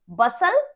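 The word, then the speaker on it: bustle: ऐसे ही विसल, बसल एंड हसल, टी is silent here.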